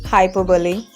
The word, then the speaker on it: hyperbole: Next one is hyperbole. No, it is not like that. You don't have to pronounce in this way because this is incorrect pronunciation. Its correct pronunciation is hyperbole.